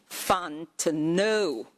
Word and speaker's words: Fontenot: last name Fontenot. The T is silent.